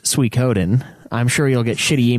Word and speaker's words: Suikoden: while ago yeah also Suikoden is pronounced Suikoden i'm sure you'll get